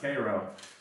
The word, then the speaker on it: Cairo: It's not pronounced Cairo, it's pronounced Cairo.